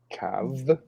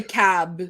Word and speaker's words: Cab: Okay, I just realized it just says Cab is pronounced with a soft VH sound, not a hard B. So Cav.